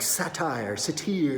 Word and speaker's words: satyr: And I'm like, satyr, satyr. It's satyr. Now we know, satyr.